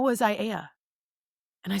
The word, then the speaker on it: Aiea: Any white person say Aiea, right? All vowels.